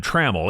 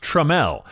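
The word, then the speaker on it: Tramell: stars of the series I always want to midwesternize his name and call him Trammell it's pronounced tramel he was born in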